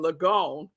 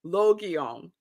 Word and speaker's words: Logion: on your screen and yesterday I was saying Lagoon that's so wrong that was so wrong it is pronounced on it's three it's three um syllables Logan okay Loki on it says it's all right